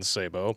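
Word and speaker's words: sabot: how to pronounce it the t is silent in sabo savat sabat the sabo is an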